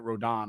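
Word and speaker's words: Rodón: rodon pitched uh which his name should be rodon he even spells it with the accent over the oh why he pronounces it Rodan I don't know but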